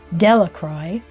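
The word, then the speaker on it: Delacroix: The villagers pronounced his name Delacroy, eventually made a great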